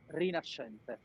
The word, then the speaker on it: Rinascente: No, when you find in an Italian work S C, So it's like a sh.